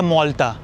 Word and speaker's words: Malta: मैंने भी लोकल से पूछा कि आपके देश को प्रोनाउंस क्या करते हैं? मालता या मौलता? और कैपिटल को क्या प्रोनाउंस करते हैं? वलेता या वलेचा? उन्होंने बोला एज अ नेटिव मौलतीस कंट्री का सही प्रोनाउंसिएशन है मौलता।